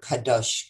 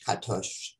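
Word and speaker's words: קדוש: And Qadesh sounds like and comes from the Hebrew word kadosh, katosh, kadosh. There's a whole bunch of pronunciations of it, which means holy.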